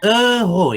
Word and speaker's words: euro: Bacanya euro ya, euro. Ya, seperti yang Kak Pamela bilang, mungkin R-nya sedikit agak susah ya, sengau.